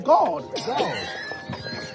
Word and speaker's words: GAWD: The A W is all, like God. And you can hear it, so it's God.